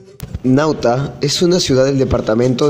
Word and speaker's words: Nauta: pronuncia pauta sin embargo los colonos cambiaron este nombre por una palabra latina nauta que significa marinero en la plaza cementerio